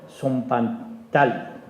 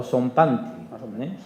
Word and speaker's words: zompantli: nunca, que se llama zompantali. Los españoles vieron por primera vez un zompantali. Es decir, o zompantli, vale, el que lo sepa de pronunciar, zompantli.